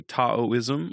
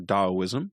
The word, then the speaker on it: Taoism: It's what many would say is modern-day Taoism or Daoism, depending on how you like to pronounce it.